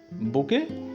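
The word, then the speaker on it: bouquet: रचना कहती है I must make a बुके फॉर my self. बुके यहाँ पे सुन देखिए, बुके मीन्स होता है गुलदस्ता इसका। ठीक है, तो इसमें टी जो है साइलेंट होगा, इसलिए इसे हम बुके बोलते हैं।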